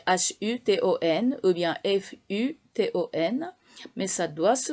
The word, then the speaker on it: futon: Mais alors, en japonais, on doit prononcer futon. Ça s'écrit H-U-T-O-N ou bien F-U-T-O-N.